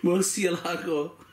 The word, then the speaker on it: Murcielago: Now I need to say it right because I've been told that the S in this is like the in things. So Murcielago. Anyhow, I've got the other ones that come in the SV version. The Murcielago LP670-4 SV.